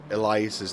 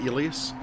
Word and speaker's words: Elias: Z how to say Elias's name but that I've been saying it wrong for 6 months it's Elias not elas he he's never corrected